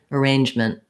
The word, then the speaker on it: arrangement: m to the n arrangement arrangement it might have a little bit of an if sound or a schwa sound i'm going to write